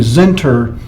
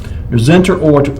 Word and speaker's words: Zentner: Didn't pronounce the name of the band. It was actually Zenter, the Zenter, Z-E-N-T-N-E-R.